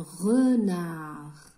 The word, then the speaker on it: renard: Un renard. Renard. Le renard ou un thalab? Re, R-E, re. Nar. Le D ici, na, harf D, la lettre D ne se prononce pas. C'est une lettre muette.